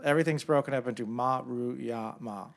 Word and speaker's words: Maruyama: the Japanese names, it's easy. You just take it syllable by syllable. Everything's broken up into Maruyama, like all Japanese names.